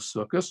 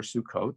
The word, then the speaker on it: Sukkot: it also is the holiday of circus or sukkot the some people like to pronounce it and um sukkot is